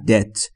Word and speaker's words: debt: دوستان توجه بکنید بی تلفظ نمیشه در debt.